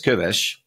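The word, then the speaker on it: Köves: Shlomo Kovess, whether Jews, by the way, that's pronounced in Hungarian as Kovesh, whether Jews felt unhappy in Hungary and whether they were subject to ongoing anti-Semitism.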